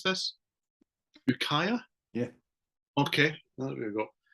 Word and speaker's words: Ukiah: Right, anyway, seeing as you segued in for me beautifully 20 minutes ago, my number 3 is, how do we pronounce this? Ukiah?